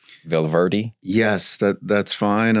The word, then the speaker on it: Valverde: Valverde? Yes, that's fine. Unless you're really good at rolling the R's, you can say Valverde.